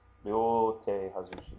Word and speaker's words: Ryote Hazushi: So there is Ryote Hazushi. Just remember that this is a long O sound.